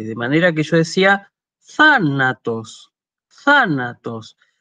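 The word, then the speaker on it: θάνατος: manera que yo decía thanatos, thanatos. Incluso la primera alfa, la alfa que está acentuada, tiene como el tono elevado, como si uno estuviera en esa sílaba solamente haciendo una pregunta, ¿sí?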